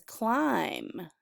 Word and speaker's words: climb: The next one is climb. C-L-I-M-B. The I says I and the B is silent.